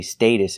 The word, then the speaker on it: status: We're using the short A sound like apple and black cat. Status. The T in the middle is pronounced like a fast D. Status. The second syllable is pronounced with a relaxed like cup and up.